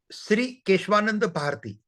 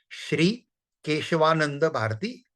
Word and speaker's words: Kesavananda Bharati: they are pronouncing the Sri. Kesavananda Bharati. They are not pronouncing Kesavananda. So meaning is same. Kesavananda meaning is same, but pronunciation technique is different.